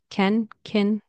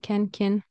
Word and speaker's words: can: or boxa chocolates boxa next can can in spoken English in Connected speech it's very often pronounced like Ken Ken kin right Ken kin it says Ken kin and I wrote it